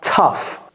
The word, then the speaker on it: tough: ok do la prononciation c'est quoi tough tough tough tough comme si c'était un T et un S soué et donc ici